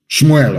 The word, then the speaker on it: Samuel: me tell you what samuel said shmuel of course correct pronunciation as your sword has